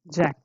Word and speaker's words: Jack: Is bin Kundan, and do based Jack or Yak. Okay, name you have to pronounce like the same way they want themselves to be pronounced, not like Yak.